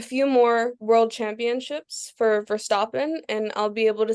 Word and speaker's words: Verstappen: Nobody pronounces Verstappen right because it's Verstappen. it's so hard to get But like that sound in the back of your throat to come out right.